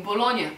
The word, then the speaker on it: Bologna: And it's the same with GN. We don't pronounce the G. We just say Ny. The N sound is softer, like in Bologna, for example.